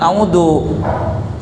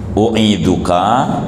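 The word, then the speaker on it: أُعِيذُكَ: ini bismillah tiga kali jangan audu iduka bacanya uiduka begitu bacanya tu audunya diganti kalaua kan kita orang lain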